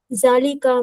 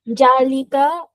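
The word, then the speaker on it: ذلك: জালিকা জালিকা মসজিদ, মসজিদুন। সেটি একটি শব্দটা মসজিদ। জালিকা হবে না, হ্যাঁ জালটা নরম করে উচ্চারণ করতে হবে।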